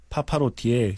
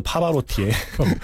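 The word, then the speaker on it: Pavarotti: 파파로티의 시그니처 곡이다. 네. 그리고 사실은 파파로티가 아니죠. 파바로티의. 저 헷갈렸네요. 발음 잘해주세요. 네. 파바로티.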